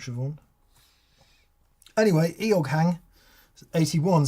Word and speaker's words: Siobhan: Eog Hang 81, and I'm sorry if Eog Hang is one of those Irish names that we're not pronouncing right, like Adrian or something. What's the SIOA? Siobhan.